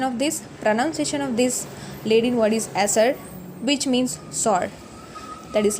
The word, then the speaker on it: acer: Pronunciation of this Latin word is acer, which means sour.